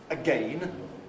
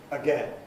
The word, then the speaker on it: again: Should we use the pronunciation that corresponds to the spelling because that's easier again or should we use the pronunciation we usually use even if it doesn't again.